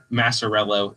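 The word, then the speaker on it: Maciariello: Shout out to Coach Massarello is how I've been told it's pronounced.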